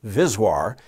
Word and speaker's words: VSWR: now let's just look at one more thing here SWR is voltage the term voltage SWR or vswr often pronounced viswar is synonymous with SWR